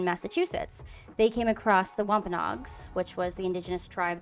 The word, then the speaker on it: Wampanoag: Yeah, Wampanoag.